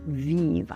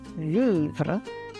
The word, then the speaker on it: vivre: Allons parler de la prononciation du mot « vivre » à cette heure. En Louisiane, il y a une forte tendance à simplifier ce qu'on appelle des groupes consonantiques à la fin d'un mot.